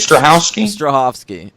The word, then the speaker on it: Strahovski: Strahovski.